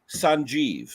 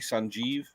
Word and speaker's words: Sanjeev: I just say Sanjeev. That's how you pronounce it. That's right. Like it was Sanjeeve, Sanjeev.